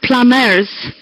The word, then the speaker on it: plumbers: And yes, it's pronounced plumbers. Plumbers. The B is a silent B.